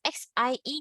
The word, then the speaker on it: xie: So XIE is xie, xie, xie.